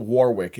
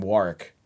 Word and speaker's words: Warwick: I never realized, and I realized this on the drive up here, that he pronounces his name not Warwick, it's spelled. He pronounces his name Warwick.